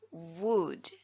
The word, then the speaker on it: would: like to introduce myself ingat dibacanya wood wood I would like to